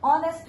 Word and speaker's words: honest: Because H is silent here and we are getting sound of O.